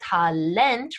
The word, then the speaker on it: Talent: pronounced differently such as ta lent right with that emphasis on the final syllable or they're english-ish looking